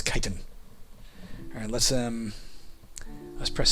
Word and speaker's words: chitin: I believe that's how you pronounce that, chitin. In my childhood, I would have called it chitin. Or in my childhood, I would have called it chitin. But apparently it's chitin.